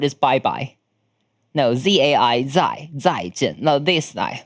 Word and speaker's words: 再见: If you want to type in traditional Chinese, which the way I speak, 台湾人们帮他打个再见，谢谢，帮他打个再见。It pronounced like 再见 Z-A-I 再见 Yeah, it's like the thing. 台湾人打一下 Goodbye 再见 Or you could just say bye bye.